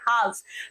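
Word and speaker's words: halves: हाव्स means हाफ का जो plural होता है उसको हम हाव्स बोलते हैं। हाफ्स। अब हाव्स को हाव्स ना बोले। हाव्स होता है। वो एल उसमें साइलेंट होता है।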